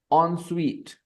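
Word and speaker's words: en suite: an onsuite Shar and on Suite bathroom okay on Suite how do you pronounce it onu on the pronunciation is a little funny on Suite okay it is spelled e NS UI T but we pronounce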